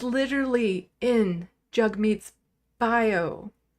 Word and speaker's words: Jagmeet: name it's literally in jug meets bio pronounce jug rhymes with hug meat Pi knows how to